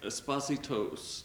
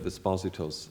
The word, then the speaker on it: Esposito: was a student of Esposito's, and Mrs. Marshall always said Esposito. So I think it must have been pronounced that way in Dublin.